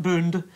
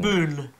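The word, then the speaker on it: Boone: Boon with an N. B O N E. Boon. Boon. Boon. Boon. Boon. Yeah. Boon. Boon. Yeah. Not D. Not boond. Boon. Boon.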